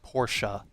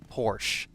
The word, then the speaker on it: Porsche: It's pronounced Porsche, not Porsche.